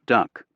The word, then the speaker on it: DUKW: Built by General Motors and awkwardly named the DUKW, pronounced duck, it was difficult to load, slow in the water, and susceptible to brake damage from salt and sand.